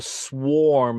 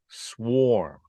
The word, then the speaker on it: swarm: might sting you a swarm of bees a swarm of bees okay you can hear it's mostly perfectly rhyming with warm and swarm now look at the